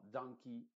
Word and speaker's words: donkey: se dice key, donkey, No es donkey, sino donkey, jersey, valley.